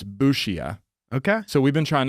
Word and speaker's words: Busia: The locals say it's Busia.